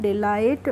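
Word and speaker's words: delight: एसटी को कैसे पढ़ेंगे डीई को पढ़ डी और एल आई को पढ़ेंगे लाई और टी को पढ़ेंगे ट तो इसको कैसे पढ़ेंगे इसको पढ़ लेंगे हम डिलाइट और डिलाइट की हिंदी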